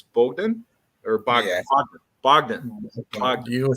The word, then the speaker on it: Bogdan: Bogdan.